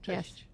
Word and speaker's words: Cześć: pronounce. Okay, so how would we say hello? Hello. Dzień dobry. Cześć, dzień dobry. Cześć. Cześć is like simple.